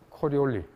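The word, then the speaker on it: Coriolis: 들어봤어요 코리 코리리 이펙트 코리올리 어느 나라 사람 같아 이태리 사람이 이태리 사람 이태리 사람이 코리올리 그래서 그 프로도 그렇고 이태리어이 뒤에 그 마지막 자은 잘 발음 안 해 그죠 코리올리 이펙트 자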